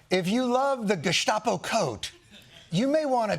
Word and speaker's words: Gestapo: In America, we pronounce it Gestapo.